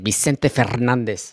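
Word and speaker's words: Vicente Fernández: Vicente Fernandez. Vicente Fernandez. Say it with an accent. Vicente Fernandez. Fernandez. Got to roll those R's.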